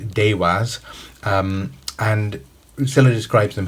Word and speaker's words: deva: the devas comes from a sanskrit world word uh pronounced dewaz um and scilla describes